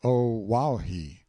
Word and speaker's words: Oahu: I named him after this island, Oahu, pronounced O-Wauhi.